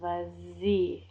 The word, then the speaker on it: vas-y: You get a nice little liaison, vas-y. Nice little vas-y sound to it.